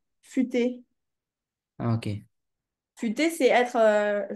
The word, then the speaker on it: futé: Non, futé, comme ça. Oui. C'est pas fuité, futé.